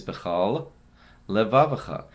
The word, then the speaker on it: b'chol levavcha: The more accurate way to say it is b'chol levavcha. End the first lamed, and then begin the second lamed. If you say them together, you're not really pronouncing it correctly. You'd have to make sure to separate those two words.